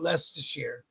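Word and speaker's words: Leicester: spelled all up, but you pronounce it lest.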